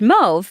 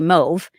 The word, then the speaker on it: mauve: and they were like, it's actually pronounced mauve because it can be either way, but in Canada it's more like they say mauve.